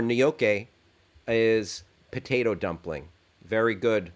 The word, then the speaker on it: gnocchi: rob shaffer chimes in gnocchi pronounced new york or nyoke is potato dumpling very